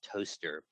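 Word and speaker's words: Towcester: see the the logo believe it or not that's pronounced toaster of the toaster race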